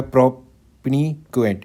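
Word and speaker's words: propinquity: चलो अगला जो वर्ड है वो है वो है प्रोपक्वेंट। इसकी भी आपको एक बार प्रोनाउंसिएशन पता होनी चाहिए। इसकी प्रोनाउंसिएशन है प्रिपिक्वटी। प्रिपिक्वटी।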